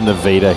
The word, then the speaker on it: Nevada: Sulphur Springs 65 to7 against Nevada Community North pronounced Nevada here by the way.